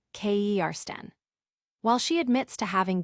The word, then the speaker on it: Kirsten: Additionally, the piece touches upon Kirsten Dunst's earlier comments about her name being frequently mispronounced as Kersten or Kristen, when the correct pronunciation is Kersten.